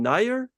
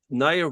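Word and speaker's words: Najer: Let's check back in Fabiano's game against, how do you pronounce his name? Nair? Just Nair?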